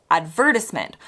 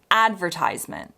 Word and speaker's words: advertisement: Brits tend to pronounce this advertisement, while Americans insist on advertisement.